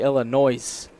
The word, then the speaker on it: Illinois: Partner dropped the S in Illinois. Yeah. Yeah. Out here in California, we say Illinois.